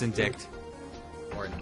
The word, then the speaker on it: indict: you indict the witness that's how you say it yeah it's indict oh unfortunately indect Chris